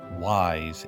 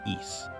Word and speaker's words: Ys: And for those confused, yes, it is not pronounced as wise. It is pronounced as East.